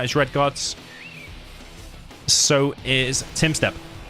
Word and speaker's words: Tumstep: Tim step is it to us in England it looks like Tom step and if you're American probably thumbstep apparently you say it like Tim step so it's Timmy versus